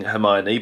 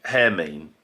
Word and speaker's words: Hermine: But, helpfully for me, I'm saying "Her-mine-ee", but it's not. Because he says phonetically for me it would be "Hair-mean".